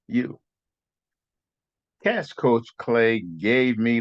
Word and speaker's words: Yew: And my last name is spelled YEW. I am you.